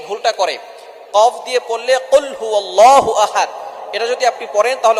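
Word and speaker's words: قل هو الله أحد: আমরা অনেকেই কফের জায়গায় কাফ পড়ি। একটা হচ্ছে কফ। আরেকটা হচ্ছে কাফ। কাফটা একটু পাতলা হবে। চিকন হবে। আর কফ একটু শক্ত করে পড়তে হবে।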